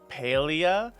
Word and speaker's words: Palia: it is attached to the wiki palia is pronounced paleo is derived from the Greek for old referring